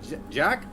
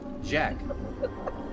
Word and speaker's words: Jack: Jock? What is it? How do you say it? Jack. With a J, like a J.